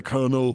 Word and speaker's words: Colonel: It's spelled Colonel, but I say Colonel.